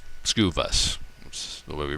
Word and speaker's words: Skuvus: you break it down sku of course in retailing is stock keeping units every store in the country uses the same terminology view vus is a little different twist on the word view but essentially what we're talking about is the ability to view information about an sku skewview scuvus that's the way we